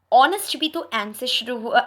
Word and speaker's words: honest: see an honest man honest sorry h is again a consonant but before a noun starting with the silent edge honest bulletin of students honest